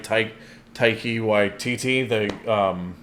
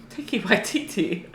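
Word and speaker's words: Taika Waititi: Yeah, it's got that I could never say his last name right, Taiki Waititi. Taiki Waititi. Taiki Waititi, is that his name? I probably butchered that, Taiki but Waititi.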